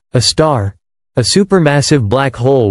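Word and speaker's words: Sagittarius A*: At its very heart lies Sagittarius A, pronounced a star, a super massive black hole with a mass over 4 million times that of our sun.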